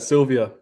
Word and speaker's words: Sylvia: Rivals just want to make sure I did pronounce that last name correct right right yes you got it Sylvia like the I say the woman's first name